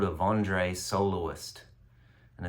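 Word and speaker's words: Wandré: found one um it's called it's called a vandre soloist and it's spelled w n d e v it's pronounced vandre um fascinating guy he's a guitar Builder from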